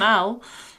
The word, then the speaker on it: alt: So, you say soc alt, I'm alt. But I'm tall as well. There we go. It's actually spelled a l t, but we don't really pronounce that last t on the end.